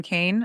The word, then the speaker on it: Keane: Dame Kane is how, yeah, it looks like Keen, but it's Okay. pronounced Kane.